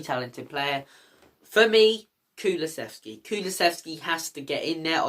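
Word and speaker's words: Kulusevski: player for me kulasvski kulasvski has to get in now I still think he's underrated by opposition fans a lot of opposition fans can't even pronounce him they call him kulasheski but look I'm gonna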